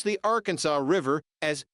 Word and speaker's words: Arkansas: It should be pronounced in three syllables, with the final S silent, the A in each